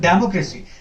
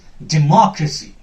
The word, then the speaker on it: democracy: will be suppressed now usually we pronounce this word as democracy democracy that is wrong this is not democracy this is democracy democracy the success will be here more democracy more will be a little louder little longer and uh